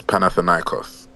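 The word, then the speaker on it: Panathinaikos: Yeah, it's Panathanos. Hey, you expecting me to know how to say that? Well, you I expect you to say it now. Panathanos. That's it. Panathanos.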